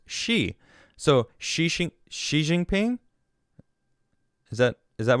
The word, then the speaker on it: Xi: Roddy says, I'm fairly sure it's pronounced Xi.